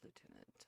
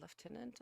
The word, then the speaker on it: lieutenant: was not the correct that was the american pronunciation of lieutenant uh lieutenant i believe is more in more fitting for uk well i digress uh